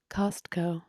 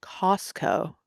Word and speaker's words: Costco: Costco. That's crazy that you pronounce it You like mean that.